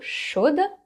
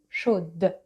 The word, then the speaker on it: chaude: But because water is feminine, chaude, with the E at the end. And because the D is not the very last letter anymore, you say D. You pronounce it.